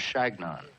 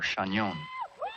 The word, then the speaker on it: Chagnon: I told them that it was Shagnon, or Chagnon, but they couldn't pronounce it.